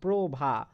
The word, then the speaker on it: প্রভা: ওকার হয়ে যাচ্ছে দেখো, প্রভা। লেখার সময় আমরা পয়র ফলা লিখছি শুধু, কিন্তু উচ্চারণ করার সময় পয়র ফলা ওকার হয়ে যাচ্ছে।